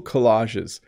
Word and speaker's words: collage: I've made a few cool collages in my life. So again, collage, that's how you would pronounce that.